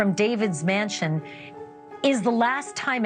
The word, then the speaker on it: D4VD: The car was registered to David Anthony Burke, the 20-year-old singer known as D4VD, pronounced David.